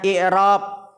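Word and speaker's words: إعراب: Di sini i'rab dengan mengkasrahkan hamzah, dibacanya i'rab, berarti ada makna yang lain selain dari harokat tersebut.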